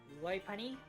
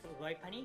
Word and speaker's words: Lopunny: I go with Lopunny because it's like earlobe, you know, it's all about the ears. Okay. So like low and it's bunny.